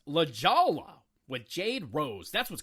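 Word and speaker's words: La Jolla: Hub website today Dan bublets comedy Productions it's pronounced La Jala with Jade Rose that's what's coming up on the art of bombing episode 280.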